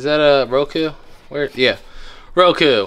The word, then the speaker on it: Roku: Yeah, Roku. I like Roku because it rhymes with Goku.